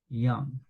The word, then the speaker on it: young: When Arnoldo was young, pronunciamos esta palabra sin el sonido del castellano de la letra Y ni la doble L, ¿de acuerdo? Decimos young.